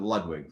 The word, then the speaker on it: Ludwig: Ludwig, I pronounce it Ludwig for what it's worth.